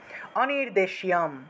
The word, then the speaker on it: অনির্দেশ্যম: অংশের সাথে উচ্চারিত হবে, অনির্দেশ্যম, অনির্দেশ্যম, ইয়ে ত্বকশারাম অনির্দেশ্যম, ঠিক আছে। তাহলে অনির্দেশ্যম, তালবস্যের সাথে জফলা, তালবস্যের সাথে জফলা আছে, তাহলে জফলা যেহেতু আছে ইয় উচ্চারণটা আসবে, সেজন্য শিও উচ্চারণ করেছি।